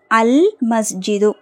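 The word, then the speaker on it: المسجد: வீடு next next பாருங்க அல் மஸ்ஜிது அல் மஸ்ஜிது ஏன் மீம்ங்கறது கமரியாவுடைய எழுத்து அப்ப லாம் உச்சரிக்கப்படணும் அல் மஸ்ஜிது ஓகேங்களா அந்த பள்ளிவாசல் த மஸ்க்.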